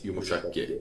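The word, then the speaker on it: yumuşak: There's only one softest and it's yumushak because it's even its name is yumushak soft g soft.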